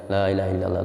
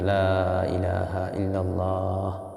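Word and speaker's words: لا إله إلا الله: এখানেও লা ইলাহা ইল্লাল্লাহ লা ইলাহা ইল্লাল্লাহ লা ইলাহা ইল্লাল্লাহ এরকম না লা বেশি করে টানতে হবে লা ইলাহা ইল্লাল্লাহ এখানে থামতে হবে তো শুদ্ধ উচ্চারণ এবং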